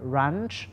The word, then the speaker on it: brunch: ว่า brunch นั่น เอง br brunch นะ ครับ อย่า ลืม จะ ออก เสียง ตัว R ด้วย ครับ อ่า ต่อ มา นะ